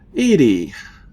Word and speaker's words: EDI: EDI is the phonetic pronunciation of EDI. That is an acronym for Enhanced Defense Intelligence.